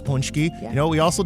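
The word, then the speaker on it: pączki: was punchki day we learned how to properly pronounce punchki you know what we also did ate a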